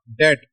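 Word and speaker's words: debt: ये light dot है द डेड डी ई बी T that है और बी साइलेंट है ये आपकी प्रोनंसिएशन में नहीं आता बी साइलेंट है।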